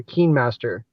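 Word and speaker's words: KineMaster: raymond editing software yeah oh uh kind uh it's spelled k-i-n-e m-a-s-t-e-r keen master so i know you can uh you can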